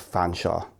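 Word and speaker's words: Featherstonhaugh: They call me Fanshawe, which is the anglicised version of Featherston. For some reason, they call it Fanshawe, like St.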